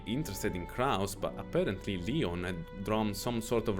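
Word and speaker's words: 理御: 理科の理に魚する It の is 理 written オン as と読みま well, す pronounced Leon.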